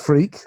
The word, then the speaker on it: Freke: me because my name is strange f-r-e-k-e but pronounced freak i pronounced it correctly and can i just